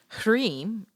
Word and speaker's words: Hrim: Hrim, pronounced H-R-E-E-M, is the seed sound for the illusion of this reality.